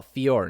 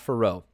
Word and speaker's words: Fiorot: manola ferro fior oh fiore not for roe all right so i mispronounced her name last time because they mispronounce it they pronounce it uh firo last time or furo it's pronounced fior right gotta love french names